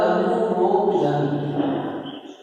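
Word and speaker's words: European: यूरोपियन में क्यों लगाया गया, क्योंकि उच्चारण इसका प्राप्त होगा यूरोपियन, है ना।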